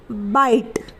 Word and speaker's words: bite: टी को ट लिखते हैं तो यहाँ ट आ जाएगा, और ई है, ई आखिर में है इसलिए उसका उच्चारण नहीं होगा यानी कि वो साइलेंट रहेगा। तो ये बन जाएगा BITE बाइट, बाइट यानी काटना।